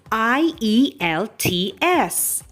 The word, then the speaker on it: IELTS: what is i e l t s hello friends today i am going to talk